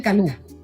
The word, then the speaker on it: Calú: Es que pero todos me dicen Calú. Ajá, con acento en la U.